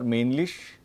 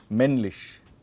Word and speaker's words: männlich: Whenever there is a double consonant, then the vowel will be shortened. Okay. So it's not männlich, but it is männlich.